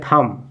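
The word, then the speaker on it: thumb: पहले क्या है एम तो जब बी के पहले एम है तो यहां बी साइलेंट हो जाएगा तो पढ़ेंगे इसको पढ़ेंगे थम क्या हो जाएगा थम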